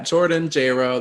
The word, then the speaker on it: Jordan Jayro: me on instagram at jordanjro that's j-o-r-d-a-n-j-a-y-r-o it rhymes with j-lo don't